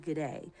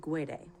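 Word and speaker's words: Guede: also hear it pronounced g'day but rudy himself pronounces it gwede and rudy's fingerprints were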